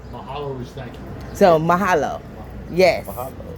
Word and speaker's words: Mahalo: Malaha. How you say it? Mahalo, right? Mahalo. So, aloha is hello and goodbye. Yes. Mahalo is thank you. So mahalo.